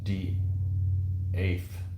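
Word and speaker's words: De'Ath: yep Edinburgh British surname death is pronounced d eth d That's not a good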